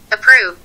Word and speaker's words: approve: شوفوا كيف بلفظوها approve approve approve approve. فهاي الاي طلعت شوي خفيفة يعني، صوت زي كأنه خطف مخطوف.